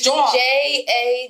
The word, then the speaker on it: jaunt: I'm like, it's not joint. No, it's not joint. It's like it's jaunt. JAWN. Jaunt. Jaunt. Yeah.